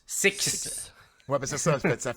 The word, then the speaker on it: Sicks: six là faut faut je pense faut comme prononcer le S à la fin c'est six ouais ben c'est ça